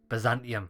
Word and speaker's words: Byzantium: teen is that what you press a hyung pronounce it Byzantium Byzantium that's it well going back there to do